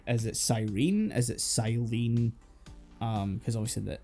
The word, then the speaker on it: Sirene: That's her phonetically spelled out Japanese name, but her name's based on the Greek siren, Yeah. so it is Cyrene. And the title makes you read Cyrene.